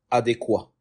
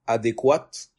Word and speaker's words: adéquat: Je disais avant adéquate, naam, et hier, alhamdulillah, j'ai appris que adéquat, c'est lorsque c'est au masculin, adéquate, on prononce cette terminaison que lorsque c'est au ce son final que lorsque c'est au féminin.